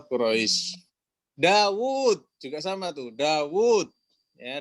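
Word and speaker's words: داود: Dawud. Ya, Dawud itu wawunya pendek tulisannya, tapi dibacanya panjang.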